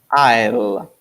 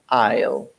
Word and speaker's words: aisle: I'll the pronunciation for aisle is e ill aisle this is the pronunciation guys yeah so I'm writing down the pronunciation for I or the one in the in the bracket is how you pronounce are ill aisle okay this guy's is for pronunciation purposes a